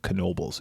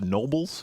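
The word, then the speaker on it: Knoebels: It's called Knobles. It looks like it should be pronounced Nobles. Yeah. But people around here pronounce the K because people around here are dumb.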